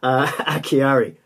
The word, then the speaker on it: Acciari: Pronounce the name wrong. Acciari, I think that's how you say it.